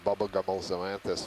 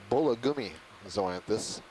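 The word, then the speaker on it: Bullagummizoanthus: I may have said to you bubblegummal zoanthus, which it is not. It is Bullagummi zoanthus, and she's quoting from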